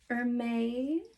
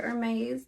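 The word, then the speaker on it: Hermès: But also another Hermes tie. Hope I believe I'm saying that correctly. Some people will pronounce it with an S at the end. Some will leave it off.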